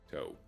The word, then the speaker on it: Tau: Toe. That's how you pronounce it.